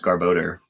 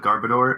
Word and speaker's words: Garbodor: just said vanillix um i just recently learned how to pronounce garbodor so i still call it i still call it garbador and i'm gonna call